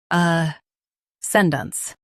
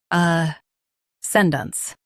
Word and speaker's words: ascendance: Ascendance. Both US and UK have the same pronunciation of this word. Ascendance. Now read the syllables shown on the screen naturally. Centered dunce. Ascendance. Stress sen and soften dunce.